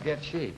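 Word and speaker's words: Goettge: It's G-O-E-T-T-G-E. But it's pronounced Getchy.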